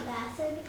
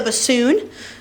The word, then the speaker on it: bassoon: The bassin. Good. The bassoon. The bassoon. It does kind of look like bassin, though, when you spell it out.